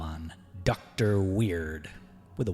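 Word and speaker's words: Weyird: to call on dr weird with a y with a y yes w e y i r d but the y is silent ish so hard not odd weird huh nevermind this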